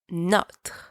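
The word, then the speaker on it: nos: you use no and don't pronounce the S it's silent for example no par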